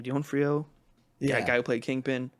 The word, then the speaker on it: D'Onofrio: I don't know how to pronounce his last name. D'Onofrio.